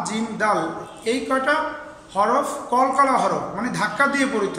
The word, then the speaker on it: قل: قل هو الله احد দেখো এখানে লক্ষ্য করে আমরা যে কুল কুল বললাম যে এই কফের উচ্চারণটা কিভাবে হবে হলকের মধ্যে একদম জিহ্বার গোড়ার কিনারা তার বরাবর উপরে তালুর সঙ্গে কুল কুল হুয়াল্লাহু আহাদ এই